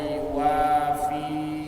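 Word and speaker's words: يوافي: Cuma yang baca salah. Yang baca banyak yang salah, kecuali orang yang sudah betul-betul memperhatikan tata cara baca. Boleh salah. Alhamdulillahirabbil alamin hamdan yuwafi, enggak panjang di fi.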